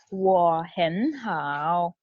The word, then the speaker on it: 我很好: I'm going to tell you how to pronounce it. You have to imitate, okay? It's 我很好.